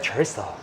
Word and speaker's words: chorizo: She was like, I was ordering, she was like, would you like chorizo? I was like, oh yeah, nice. You are pronouncing it properly.